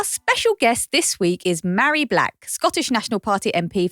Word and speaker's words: Mhairi: I always tell people you pronounce my name as though you're proposing to me. Like, will you marry me? Mhairi.